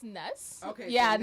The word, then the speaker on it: N3S: Well, it's actually pronounced Ness. Okay, Yeah, so Ness. Ness.